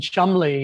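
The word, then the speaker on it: Cholmondeley: anyway well it's names like sinjin and and chumley and you know after my mother's maiden name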